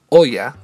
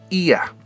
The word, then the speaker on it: Oia: Les debo confesar que antes de llegar a Santorini solía pronunciarlo Oya, como se escribe, pero los locales me enseñaron que era Ia.